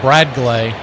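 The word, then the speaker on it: Bradgley: And they're saying it's pronounced Brad Glay Rodriguez from Venezuela.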